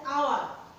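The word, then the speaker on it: hour: তাহলে এখানে তো এইচটা তো কনসোন্যান্ট, কিন্তু উচ্চারণ হচ্ছে আওয়ার, যেহেতু বাউলের মতো উচ্চারণ হচ্ছে তাহলে এখানে হবে এন, কি হবে এন।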